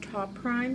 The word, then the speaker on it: Toprime: here on an ipad case i believe it's pronounced top rhyme it's t.o.p r IM e but before we